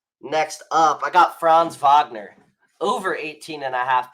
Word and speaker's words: Wagner: opportunity for here uh Wagner has been or Wagner I want to say Wagner obviously because that's how it's spelled but Vagner has been struggling with